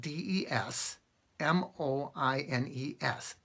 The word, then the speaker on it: Des Moines: Moines Iowa it's spelled des MO i n es des moines but it's pronounced des moines because it's French apparently right now if